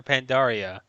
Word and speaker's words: Pandaria: He says it's like bacteria. Pandaria. It's pronounced the same way. People were wondering if it's pronounced Pandaria. Like no, that was the question, Seth. Pandaria or Pandaria? Like bacteria, Pandaria. Or we've exhausted this though.